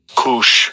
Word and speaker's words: Cush: Donc, en hébreu, ça se prononce comme ça. Strong's H 3568. Cush.